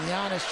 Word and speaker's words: Giannis: the side and then giannis just barely touches him yes the g is silent but enough to give